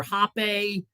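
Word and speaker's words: rapé: So I've heard this I didn't know if what's that the R A P E with the or hape it's pronounced that is that the smoke that you're talking about?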